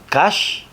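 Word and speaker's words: קש: ¿Cómo se dice en la Torá? Kash, paja, kash. Así se dice en hebreo.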